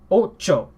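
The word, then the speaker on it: ojo: but produce one sound so in oh Joe is not say op je oh it's not all say Archer oh no it's not correct it is Oh Joe Oh che Oh Oh Joe number eight here we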